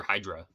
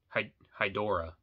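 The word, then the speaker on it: Hydorah: how you pronounce it it's not Hydro like hail Hijra from Marvel it's not that Hydra but uh I think I'm pronouncing that right hydora hydora yeah there's an o in there so yeah it is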